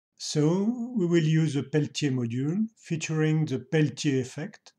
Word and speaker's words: Peltier: use a Peltier module what you may say Peltier but I won't miss an occasion to pronounce one word with a correct accent in this video so we will use a Peltier module featuring the pelty